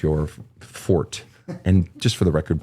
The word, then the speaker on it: forte: singing is not your fort and just for the record people it's not Forte that root is not found in French it's not Forte it's actually Fort it's Latin by the